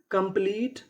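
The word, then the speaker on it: couple: कंप्लीट company कॉम्प्लीमेंट commerce.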